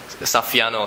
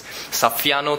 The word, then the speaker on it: Saffiano: fancy Prada type texture, which I can't really pronounce the name. But you know, that's that if you... Saffiano, thanks Justin. So Justin says it's Saffiano texture, Prada Saffiano texture.